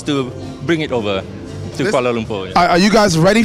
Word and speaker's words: Kuala Lumpur: It's Kuala Lumpur, Malaysia.